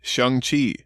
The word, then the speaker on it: Shang-Chi: Is it Shang-Chi or Shang-Chi? It's actually a joke in the movie, Keith, but it is indeed Shang-Chi.